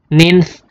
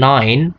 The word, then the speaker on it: nine: six seven eight apalagi nines tense Eh ini bacanya nih ya bukan Noin tapi Nin Nin stents eleven twelve